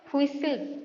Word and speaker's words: whistle: ये जो वर्ड गुड़िक देती देख से कौ कौ वर्ड गुड़िक साइलेंट रही से वर्ड गुड़िक देती तुम पिला माने हुइसिल प्रथम लिखाई WHISTLE हुइसिल लिखा जाटा किंतु टी